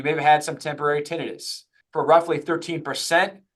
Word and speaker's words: tinnitus: First of all, pronounced tinnitus or tinnitus. Typically, clinicians will call it tinnitus.